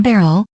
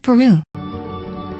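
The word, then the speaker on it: Beryl: It's Queen Barrel, not Peru. Both. Both. Both. Both is good. One is the English pronunciation, one is the Japanese pronunciation, but both are correct.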